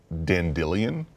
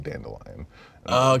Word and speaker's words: Dandelion: Witcher books the audiobooks the first book he pronounces the character's name denne billion and the second book he pronounces it dandelion because it's actually dandelion the whole first book